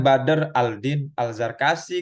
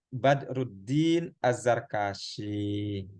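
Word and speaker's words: بدر الدين الزركشي: Jangan Badr Aldin Al-Zarkashi gitu, teman-teman ya. Tapi Badruddin Az-Zarkashi. Al-Burhan fi Ulumil Quran gitu.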